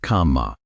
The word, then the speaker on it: kamma: But here is where it gets remarkable, because the word kamma, say it kamma, 2 syllables, did not mean what you think it meant.